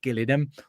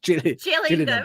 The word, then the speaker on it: Gillingham: It's not Gillinham. It's gillingham.